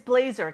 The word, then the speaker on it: Blaser: Is that how you pronounce it, real quick? It's Blazer.